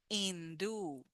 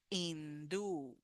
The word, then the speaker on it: Hindú: Hindú, we have the last sound u and it's with the stress. Hindú, hindú. Remember the H in Spanish does not sound, is silent.